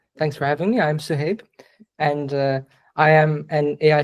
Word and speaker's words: Suhaib: Yeah, let's move on to the next speaker, which is, yeah, I hope I pronounced your name right, but Suhaib. Yeah, no worries. Suhaib, yes.